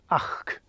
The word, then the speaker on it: -achd: So here we have it, the k sound at the end of this ach, ach.